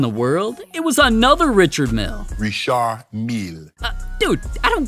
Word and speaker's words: Richard Mille: It's Richard Mille. Yeah. Whatever you say, Four Eyes. The NFL didn't care how anybody pronounced it.